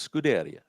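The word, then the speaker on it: scuderia: Americans or Brits and the ones that were saying it's sudaria were Italians and French and since scaria is Italian for stable I'm going with scaria and you want to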